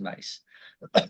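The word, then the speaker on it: Myss: body of work from a woman named Carolyn mace spelled mys but pronounced mace she has other archetypes that she teaches and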